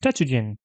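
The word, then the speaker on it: 達人: We can read from the hiragana that this is pronounced Tatsujin. We can see it's made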